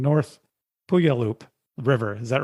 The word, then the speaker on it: Puyallup: Day 3 is Devil's Dream to, I'm going to say this wrong, North Puyallup River. Is that wrong? Yeah, it's actually pronounced Puyallup, and anyone outside the Northwest always has trouble with that.